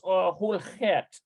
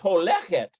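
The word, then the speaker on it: הולכת: And notice that that's holchet. I think it's holchet. That's how you pronounce it. Let's double check it here. He holchet leshiur. Oh, it's holechet.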